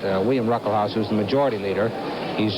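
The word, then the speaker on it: Ruckelshaus: the uh first s in his name is pronounced it's it's silent William ruckle house who's the majority leader he's just uh 35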